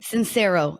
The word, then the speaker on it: Sincero: Sincero. It's spelled like sincere.